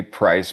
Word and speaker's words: PR1CE: Under the title of I thought it was Price, but it's you pronounce the band name PR1CE, yeah. Yeah. So it's obviously Price, but yeah, I had